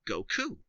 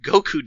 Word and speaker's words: Goku: Back in Japan, though, the word for 5 is pronounced as go, and 9 is Q, which is sometimes lazily, or by children, pronounced ku. Thus, May 9th is Gokyu, or Goku.